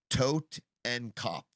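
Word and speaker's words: Totenkopf: The word is spelled to o t e n k o pf. Tote and cop.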